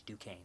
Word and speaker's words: Duquesne: It's Duquesne. The S is silent.